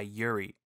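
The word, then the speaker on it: UREI: And the one which takes the crown is the 1176, which was originally made by Yuri. I think that's how you pronounce it. U-R-E-I, Yuri? Yeah.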